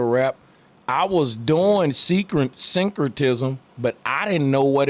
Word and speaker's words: syncretism: write it down far time so I could pronounce it right every time it's syncretism but guess what on some real [ __